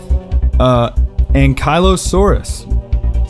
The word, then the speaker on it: ankylosaurus: And for my whole life, I've been called an ankylosaurus because I thought it's down by your ankles, but that's not how you say it. It's ankylosaurus. Ankylosaurus.